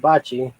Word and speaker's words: Bocce: speak bocce and dale i spelled it like the italian balls but bocce bocce is correct i was curious it's